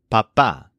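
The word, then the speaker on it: papá: Dad are mama and papa with an accent mark on the last a in each casee Mama and Papa for example my dad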